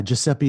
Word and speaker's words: Giuseppe: You can pronounce their name? Yeah, Giuseppe and Gaetana Di Arpa.